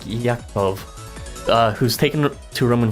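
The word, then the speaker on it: יעקב: go for Jacob cuz apparently the way you pronounce his name in Hebrew is yako you may be a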